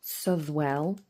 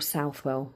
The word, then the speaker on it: Southwell: today I am doing my Southwell Minster or Southwell Minster or Southwell Minster. There's about 3 different pronunciations, all correct by the way, for the Minster.